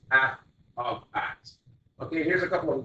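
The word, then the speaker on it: f(x): And again, you just heard me say it is pronounced f of x.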